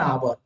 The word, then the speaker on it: hour: का यूज किया गया, ये आवर जो है इसका पहले प्रोनाउंसिएशन करके देखिए आप, आवर, आवर, इसका जो प्रोनाउंसिएशन होता है स्टूडेंट, ये ओ से होता है, और वो क्या है, ये वॉवेल साउंड है, वो क्या है, वॉवेल, वॉवेल साउंड है।